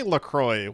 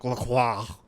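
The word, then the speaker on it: LaCroix: I think I say Lacroy, which is not how you're supposed to pronounce it. It's supposed to be like Laqua or something.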